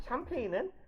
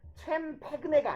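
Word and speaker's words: champagne: 자, 샴페인은 챔페그네가 아니죠. 챔페그네. 어차피 이게 어원 자체가 영어가 아니잖아요. 그죠? 샴페인. 보통 샴페인에 가깝게 읽으면 되고요.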